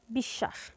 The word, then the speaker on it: বিশ্বাস: যুক্ত ব্যঞ্জনটির দৃত্ত হবে যেমন বিশ্বাস এখানে মাঝের শব্দ অর্থাৎ স এর সঙ্গে ব যুক্ত আছে যেহেতু মাঝে ব ফলা যুক্ত আছে তাহলে এই যুক্ত ব্যঞ্জনটির অর্থাৎ স এর দ্বিতীয় উচ্চারণ হবে দীত্ব বলতে ডাবল বা দুইবার সেক্ষেত্রে এর উচ্চারণ কেমন হবে বিশ্বাস এরপর আছে পক্ষ এ